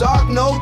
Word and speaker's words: Ogno: It's Ogno too, but you should know this. Boom bam, you said it wrong. Working on my vids all day long. Someone goes and looks and butchers my name.